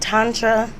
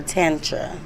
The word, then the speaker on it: tantra: So both ways are correct. Tantra, you know, like and tantric. Like tomato.